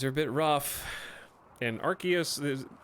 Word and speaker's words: Arceus: I saw the credits of Arceus or Arceus depending on where you live and how you say it I have I now